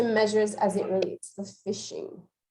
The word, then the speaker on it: phishing: So let me jump into what is phishing. The concept is pronounced like the term phishing, the action verb to fish.